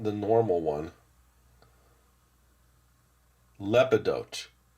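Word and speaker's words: Lepidotes: Lepidote. Emphasize the lep.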